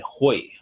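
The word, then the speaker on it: Hui: And look in the bottom right-hand corner where it says, it's spelled H-U-I, but it's said Hoi, Hoi Yin, which means earth gate or root chakra.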